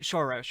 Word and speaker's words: Soros: how gif is supposed to be pronounced jiff george soros look disco rap when george soros sends me the check i'll start i'll start pronouncing it shorosh okay um like i i'll i'll start respecting